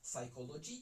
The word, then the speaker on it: psychology: qui est référence à psychology, puisque le P de psychologie qui se prononce en français est silencieux en anglais, mais du coup, on n'a pas la ref.